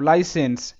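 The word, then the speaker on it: license: দেখো লাইসেন্স, লাইসেন্স, সেন্স বলবো না, বাংলাতে স এর উচ্চারণ যেভাবে হয় সেভাবে করবো না, এখানে শর্ট সাউন্ড হবে, সি আছে তো, লাইসেন্স, লাইসেন্স, লাইসেন্স না।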